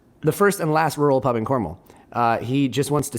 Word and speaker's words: Cornwall: to cornwall cornwall or cormel cornwool it's it's pronounced cornwall it's spelled c-o-r-n-w-a-l-l like cornwall but you don't